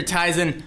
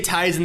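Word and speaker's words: Tizen: that didn't happen so whether it's teasing or tysen I'm not going to try and get involved in that I'm going to say tysen though Le I can pronounce it both ways and be right one of them tyon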